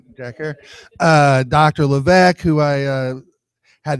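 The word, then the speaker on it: Herer: here today, Paul Stanford, Jack Herrera, rhymes with terror, right? Jack Herrera, Dr.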